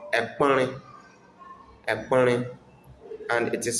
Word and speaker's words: Ekpɔnre: Table in Nzema is called Ekpɔnre. Ekpɔnre. And it is spelled as E K P O O E.